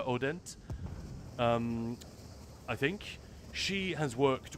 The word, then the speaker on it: Hodent: And I've quoted this a bunch of times, but the awesome psychologist Celia, it's spelled Celia Hodent, but she's French, so it's pronounced Celia Odent.